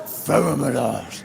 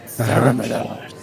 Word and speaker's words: Feromalars: Feromalars. That's Oh. how you pronounce it in Draconic. Feromalars. Yeah. That's the way it's pronounced.